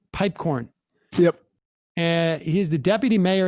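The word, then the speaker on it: Piepkorn: Is that how we pronounce his name? Pipecorn.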